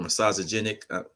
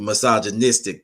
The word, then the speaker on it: misogynistic: Misogynic. Y'all know I'll be mispronouncing misogynistic. it. Misogynistic.